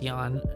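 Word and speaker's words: Jan: it's the J it's it's pronounced as a y it's Yan anyway we're increasing his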